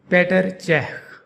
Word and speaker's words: Petr Čech: This goalkeeper from Czech Republic, his name in his home country is pronounced Petr Čech. Petr Čech.